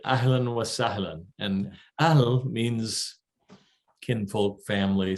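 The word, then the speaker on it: أهلاً وسهلاً: you want to get it's allen so a h l a n w a and then salon s-a-h-l-i-n so it rhymes a little bit ahelen wasallan and al means kinfolk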